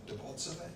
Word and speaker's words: Debaltseve: than there was advance by the Russians into Debaltseve. Is that right? Am I pronouncing it correctly?